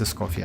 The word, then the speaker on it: Escoffier: So yeah, her official name pronunciation is Miss Escoffier.